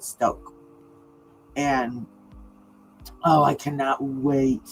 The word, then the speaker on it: Stauch: I'm trying to I've been pronouncing it like that because that's what the news are pronouncing it, but I noticed the other day when I was listening to the father's statement, he pronounces it Stoke.